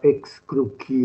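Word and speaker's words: excrucior: latino è ex cruciale con la pronuncia classica ex crucchi o ex crux cosa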